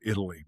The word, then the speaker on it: Italy: I T A L Y Italy, but we pronounced it Italy.